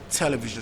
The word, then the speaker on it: television: There's only one exception in English, and that's the word television. So let me just give you the exception straight away. Television is stressed on the first syllable.